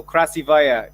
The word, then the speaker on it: красивая: Krasivaya.